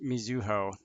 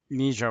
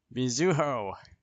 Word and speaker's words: Mizuho: sister's name is pronounced Mizuho, with a U in the middle. Not Mijo or whatever I was saying.